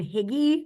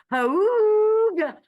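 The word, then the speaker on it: hygge: of our colleagues, Beth, it's spelled not like that. So I kept thinking it was saying Higgy, and I was like, getting Higgy with it. And then I realized then I realized I was wrong, and now it's pronounced like Hooga.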